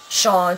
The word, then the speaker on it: Shaan: to say you know my name Sean pronounced like Sean if you read it it looks different It's s h a a n and I have to put like sounds of s h a w n because people prob to